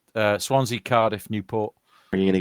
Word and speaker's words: Swansea: I'm not listening to um Americans and Canadians pronouncing it's not called Swansea Swansea Swansea yeah it's just yes it's uh Swansea Cardiff Newport are you gonna get a Welsh